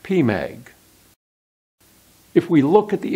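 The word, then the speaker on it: PMAG: this the primary magnification spelled p.m. AG and pronounced P Meg if we look at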